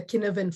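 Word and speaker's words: Cynefin: might have heard of the kinovan framework it's spelled as c-y-n-e-f-i-n and that looks at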